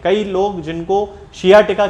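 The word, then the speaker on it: sciatica: खास तौर से जो पेशेंट हैं वो हमेशा सियाटिका को साइटिका बोलते हैं। तो ये साइटिका एक जनरल प्रोनाउंसिएशन अब इसका बन चुका है। वैसे यदि देखा जाए तो इसको सियाटिका कहना चाहिए।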